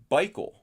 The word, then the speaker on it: Bikel: um but how he's got a correction Theodore bikel b-i-k-e-l right is that is or is that how you it's Bickle turn out with a bike b-i-k-e-l so I